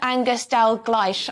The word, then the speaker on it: Angus Dalgleish: co-founder of UK medical Freedom Alliance and Professor angerstell gleich I think that's how you pronounce it yes the principal of The Institute